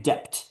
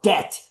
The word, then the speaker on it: debt: Like, so that guy mispronouncing a word, just kept saying dep, you know, he had a Mexican background. Depth. Depth. Depth. It's like, bro, it's debt. The B is silent in English.